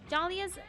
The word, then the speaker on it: Dahlia: suggestion of your own dahlia's most most mysterious and alluring trait is the silent h in her name start playing off silent